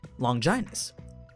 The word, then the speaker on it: Longinus: Let's try talking about one of the known 20, Longinus. Yes, apparently that's how you pronounce it.